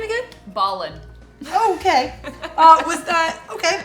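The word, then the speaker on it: Bawlin: Are you uh here to meet with um Michael and Jacob Balin? They are brothers. It's very convenient cuz I only had to tell you one last name. What's the last name again? Balin.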